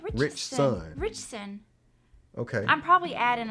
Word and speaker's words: Ritchson: It's not Richardson. He's not one of us. Well, I don't know. He ain't family. What's his name then? Richson. Ritchson. That's what I say. Richson.